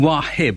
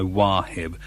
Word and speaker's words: Wahib: This is from Wahib, I suppose that's how you pronounce it, W-A-H-I-B.